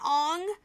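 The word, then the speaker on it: Aang: Ang, you know, remember the the correct proper pronunciation? Ang.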